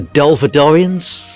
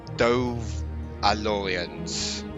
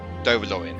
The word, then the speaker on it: Dovalorians: The Dolphadorians? Yes, but I just realised that that's not how you pronounce it. So it's Dovalorians. There we go. Dovalorians.